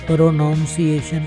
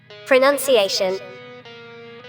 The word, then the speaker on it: pronunciation: اب آپ کو پتہ چلا کہ آپ کا پروناؤنسیشن کتنا غلط ہے۔ بھائی پروناؤنسیشن نہیں ہوتا، پروننسیشن،